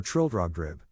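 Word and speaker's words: Trildrogdrib: Trill drag Dube or Trill drog drib for it is pronounced both ways as near as I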